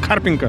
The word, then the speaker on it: Карпинка: Ударение правильно, ставь Карпинка.